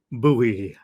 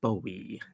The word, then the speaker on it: Bowie: is going to be space odity by David buoy sorry David buy uh or David Bowie different people will pronounce it differently I believe it's actually supposed to be pronounced Bowie David Bowie I always pronounce it wrong myself